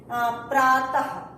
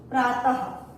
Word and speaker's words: प्रातः: जैसे देखिए प्रातः, फॉर एग्जाम्पल प्रातः, या हा नहीं होता है, लेकिन ये विसर्ग बिंदु उच्चारण करने के लिए हमको हा का उच्चारण करना पड़ता है।